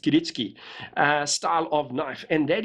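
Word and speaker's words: kiritsuke: it's k-i-r-i-t-s but it apparently is in japanese pronounced kiritsuki style of knife and that is a well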